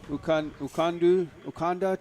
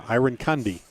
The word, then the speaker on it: Arinkandi: It was absolutely a fantastic ball, difficult one for the goalkeeper, Patrick Ukanda, to deal with. Arinkandi. Yeah, Arinkandi is how you say that.